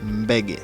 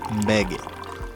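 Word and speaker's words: Mbege: Oh, that's my favorite, Beggy. That's how they call it. MB E G E. I don't know how you spell it, but it's called Beggy.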